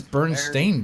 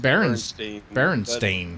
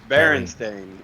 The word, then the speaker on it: Berenstain: So is it Bernstein? Is that pronounced Bernstein? What? No. I've always heard it pronounced Berenstain. But it's Berenstain.